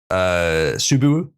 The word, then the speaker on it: Subaru: Subaru. Jesus Christ. What? Yeah, that's how it's pronounced.